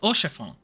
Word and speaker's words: Orchefon: It's pronounced Orchefon. Thanks, I hate it. Fudging Certainly. French words.